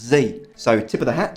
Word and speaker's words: XE: is a gender-neutral pronoun and it's pronounced Z so tip of the